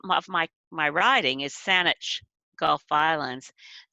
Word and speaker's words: Saanich: my my riding is saanich gulf violence saanich is an anglicized mispronunciation of wasani so i am very